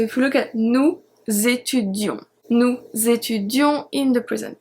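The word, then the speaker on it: étudiions: with nous and vous, we have a double E. It's very important for the spelling, but we don't really pronounce it. We don't really say nous étudions. We don't say that. We say nous étudions. so it's purely for spelling.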